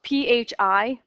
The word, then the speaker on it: phi: Fibonacci numbers it's spelled p-h-i it's a Greek letter yeah but it's pronounced fee like f-e-e some people pronounce it